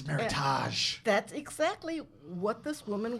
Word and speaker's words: meritage: it was um yeah we said meredith uh rhymes with with heritage and and it's meritage that's exactly what this